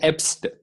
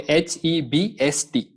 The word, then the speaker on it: Herbst: Again, do not forget R. R is silent. Okay, R is silent. So you just pronounce it as Ebst. Okay, Hebst.